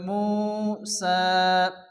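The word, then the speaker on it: موسى: যাবে কি বলতে হবে সিন খালা জবর সা অর্থাৎ সিন এখানে আলিফ টান হবে মুসা এরকম লেখা এরকম থাকবে কিন্তু উচ্চার সময় এরকম উচ্চারণ করতে হবে মুসা এরপর দ্বিতীয় নাম্বার কাঁদে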